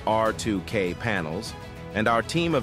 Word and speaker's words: Ar2K: The BSIL Electrical Panel Division is a system house for ABB Ar2K, pronounced R2K Panels, and our team